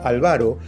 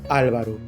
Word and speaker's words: Álvaro: los alveolos pulmonares o el nombre de Álvaro que en algunas latitudes se pronuncia como ávaro Pero que acá lo manejamos como Álvaro y ahora continuemos con